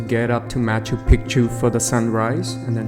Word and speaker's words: Picchu: you pronounce machu picchu you have to really say picture instead of pichu because in question which is the native language of the inca pichu means actually penis so don't say it